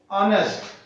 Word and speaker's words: honest: Next one is honest. Honest word is starting with H and it is consonant but it is giving the sound of vowel. H is silent here.